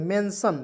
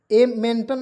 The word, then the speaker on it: mention: यहाँ पे देखेंगे MENTION मेंशन, देखिएगा मेंटन नहीं पढ़ेंगे, मेंशन पढ़ेंगे, ME से मेंशन, देखिएगा MEN मेंशन, देखिए MEN से लिखेंगे मेन, TION को सन पढ़ेंगे, टन नहीं पढ़ेंगे।